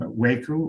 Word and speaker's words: WAICU: to i am retiring from waku or waiku we're very ecumenical about how you pronounce the acronym um but it is